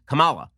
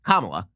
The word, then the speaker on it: Kamala: on paper which is kamala it looks like the emphasis should be on the second syllable but in fact the emphasis is on the first syllable it is pronounced kamala right i only know